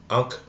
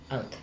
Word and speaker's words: Ankh: I'm going to spell it out because I don't want to butcher the way you pronounce it. A-N-H-K. Ankh. Ankh.